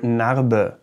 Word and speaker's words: Narbe: And there's the unpronounced version, for example, if the E is at the end of a word. For example, in the German word Narbe, die Narbe, die Narbe, die Narbe, the scar, die Narbe.